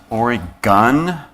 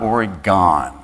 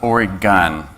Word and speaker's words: Oregon: some of my colleagues it is pronounced or a gun not or gone so if you don't want to stand out it's or a gun and yes we have